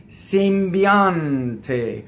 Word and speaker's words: sembiante: Sembiante. So we're going to talk about this is a word that does the normal stress on the penultimate syllable, right? So the ah is your accent in the word, okay?